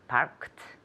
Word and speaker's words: parked: It doesn't matter as long as you pronounce the T and not the E.